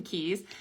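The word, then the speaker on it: Cay: Ocean uh Key MSC's um Perfect Day at Coco K. Oh my god. And that one drives me crazy because C A Y is actually pronounced key.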